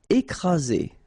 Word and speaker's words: écraser: Écraser. Okay, double vowel, only one S, Z, and then you get the first accent aigu, écraser.